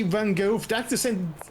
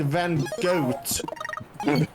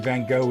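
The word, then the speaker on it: Van Gogh: I think I remember someone who tried to say Van Go accidentally said Van Goat. Okay. Oh, that was mispronouncing.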